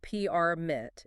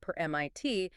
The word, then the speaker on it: permit: If I emphasize the first syllable permit, it's a noun. It is a physical object. Do you have a parking permit? Exactly. But if I stress the second syllable permit, it becomes an active verb. I will not permit you to park here.